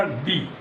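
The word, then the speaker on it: the: इसी तरह डेफिनेट में ये आपने सुना दी, इसके दो उच्चारण होते हैं, एक तो होता है दी और एक होता है द।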